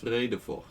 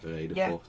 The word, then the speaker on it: Vredefort: In fact, it means peace fortress, and it's pronounced Vredefort, or Vredefort, or Vredefort, depending on where in the A Netherlands bad you're from.